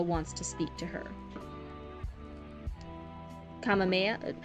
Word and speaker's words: Kamehameha: Kamehameha? I know the Dragon Ball Z thing, they use it, and it's the Kamehameha, but that's not how it's said in the culture that it was taken from.